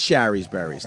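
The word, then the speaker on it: Shari's Berries: I mean, it is Sherry's Berries, not Sherry's. Sherry doesn't rhyme with berry.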